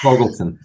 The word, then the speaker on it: Fogelson: I'm sorry, I can't pronounce anything today. It's Fogelson.